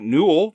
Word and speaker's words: Newell: It's directed by Mike Newell, which rhymes with cool.